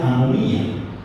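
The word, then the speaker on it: ἀνομία: Entonces, hay una epidemia de maldad también, que el concepto o la palabra original en griego se pronuncia anomía, y es la palabra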